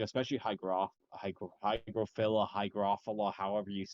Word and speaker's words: Hygrophila: though you pronounce hydrophila is it actually it's pronounced hygrophila oh my God okay how gruffle it is